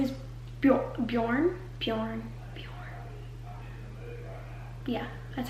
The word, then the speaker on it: Bjorn: Viking her name's Freya the guy's name is Bjorn Bjorn bjor yeah that's how you say it